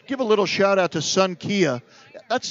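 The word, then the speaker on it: Xankia: we want to give a little shout-out to son Kia that's spelled that's got a funny spelling it's XA n ki a but it's pronounced son Kia now they're not open today I want to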